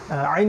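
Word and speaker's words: ع: হুদ সূরা হুদ তারপরে আইন আইন ওই যে গলার মাঝখান থেকে এইটা একটু খেয়াল করে উচ্চারণ করতে হবে আইন গলার মাঝখান থেকে আইন এবং এখানে উপরের দিকে একটু চাপ দেওয়ার চেষ্টা করতে হবে আইন পেশ উইন পেশ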